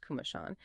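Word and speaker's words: Komoshan: This AI generated conversation explored the real research and personal story behind Kindred Compass, created by Jason Kumosin, pronounced Kumashan, in memory of his mother who lived with Alzheimer's dementia.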